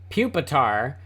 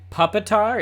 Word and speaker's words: Pupitar: So it's Pupitar. But if you pronounced it Puppitar, it could be a puppy with a scimitar.